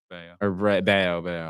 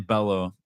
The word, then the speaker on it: Bello: Bayo. I don't know. Brian Abreu's on the Astros. I used to call him Brian Bello. Because that's how it's spelled. But anyways, Bayo.